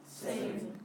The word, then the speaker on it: zehn: Zehn. 10. Okay. Try that one again. 10. Zehn.